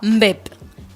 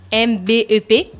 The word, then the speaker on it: mbep: On a la louche en bois, mbep. M-B-E-P, c'est mbep, non? C'est bien prononcé, mbep.